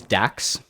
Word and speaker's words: DAX: His name is DAX. I think that rhymes with Jax.